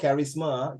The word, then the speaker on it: charisma: Carrie serious you know how people pronounce carries something people pronounce cherries does it look like chair to you I know CH a i r is cherries the word is called Charisma Charisma means leadership correspondent